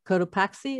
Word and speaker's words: Cotopaxi: referenced before we have a picture of uh cotopaxi is that pronounced correctly right no actually the one i